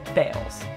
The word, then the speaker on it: Balls: since his death balls' descendants have changed the pronunciation of their last name to the homophone bals Misty Hyman Misty Hyman